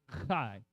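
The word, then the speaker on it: חי: Because chai, everyone say chai. It is transliterated CHAI, but it is pronounced chai.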